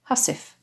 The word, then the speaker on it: housewife: housewives in your beds at the time the word housewife would have been pronounced hasif which is where we